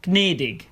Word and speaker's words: gnädig: If you see a G followed by a N, it won't become a N sound like in the English word gnome. Instead, both letters get pronounced as Gn. For example, gnädig, meaning gracious.